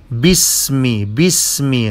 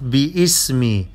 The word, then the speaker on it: باسم: The ألف of باسمي is not pronounced. باسمي not باسمي.